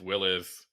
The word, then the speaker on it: Willys: So, I think it's a Willys trim. So, we'll see how I feel about that. And then we're going to get some commenters telling us that's not how you pronounce the name. It's Willis.